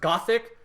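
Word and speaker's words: Gosick: have a show called go sick which really should just be pronounced gothic but it's always romanized as go sick i don't know why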